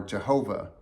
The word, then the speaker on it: Jehovah: When we see it in all caps, it's a reference to YHWH, which is often pronounced Yahweh or Jehovah.